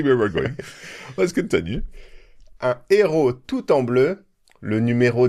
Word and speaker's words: héros: Un héros. Un héros. So there's no liaison. It is completely forbidden.